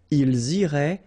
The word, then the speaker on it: iraient: And then if you look carefully, you've got A-I-E-N-T, okay? But then phonetically it goes like E, okay? So technically these form and these forms here are pronounced the same way, and it goes like irait, okay?